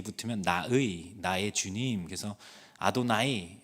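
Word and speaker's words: אדני: 그다음에이가 뒤에 붙으면 나의 나의 주님 그래서 아도나이 아도니 아도나이는 여호와를 그냥 나의 주님이라고 부르는 것 중에 하나고 아도니로 발음할 수도 있습니다.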